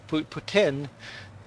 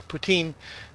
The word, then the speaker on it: poutine: but put well actually the French way of Putin it's close to Putin but no no not